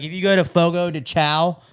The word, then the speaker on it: Fogo de Chão: Like if you go to Fogo de Chao, Fogo de Chão is the correct pronunciation.